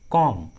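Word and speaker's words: comb: जब भी किसी इंग्लिश वर्ड्स के लास्ट में बी रहता है और उस लास्ट वाले बी के जस्ट पहले एम रहता है तो बी का उच्चारण नहीं करते, बी साइलेंट होता है।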